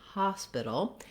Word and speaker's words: hospital: So in the word hospital, the main stress is on the ha syllable, the first syllable. So it would sound like hospital.